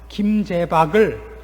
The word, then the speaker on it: 김재박: 올스타 뽑을 때 어떤 TV 탤런트가 김재박을 김재전이라고 읽어서 한번 무리를 빚었던 거 기억나십니까? 그래서 저는 김재박을 알고 있으니까 보면 이게 김재박이구나. 재자는 쉬우니까, 그렇죠? 있을 재자는 쉬우니까 김재박 그러는 것이지 아니고 읽으라 그러면 김재전이라 그럴지 몰라요.